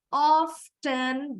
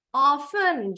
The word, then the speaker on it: often: pake t oven oven dua-duanya sama nih stressingnya ada di suku kata pertama sekarang kita lanjut sambung